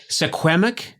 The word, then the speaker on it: Secwepemc: Secwepemc?